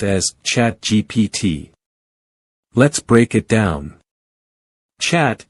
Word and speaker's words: ChatGPT: ChatGPT is pronounced as ChatGPT. Let's break it down. Chat is pronounced with a short sound, followed by a ch sound, making it chat. GPT is pronounced with the letters spelled out, GPT.